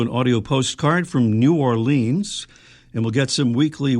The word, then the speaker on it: Orleans: I said Orleans cuz that rhymes with the one on on Cape Cod.